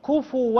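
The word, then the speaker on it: كفوًا: الفاء هذه ما هي بساكنة، الفاء مضمومة فتنطق كفوا كفوا. ايوه احسنتي.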